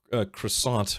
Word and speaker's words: croissant: Uh, it irritates me so much when people pronounce the tea in croissant. Croissanti.